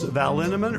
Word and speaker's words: Linneman: Alicia Lemus, Rebecca Hughes, Val Linneman, rhymes with cinnamon, Nick Harper, Stephanie Holmes,